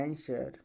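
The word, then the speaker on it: answer: डब्लू होते silent हो जाएगा। इसको क्या पड़ेगा? आंसर, ठीक है।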